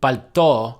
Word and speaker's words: пальто: Someone might answer "Конь в пальто," a horse in an overcoat, because the words кто and пальто both stress the final o.